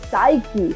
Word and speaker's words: psyche: See, when P is followed by S, specifically at the beginning of the word, the P is silent.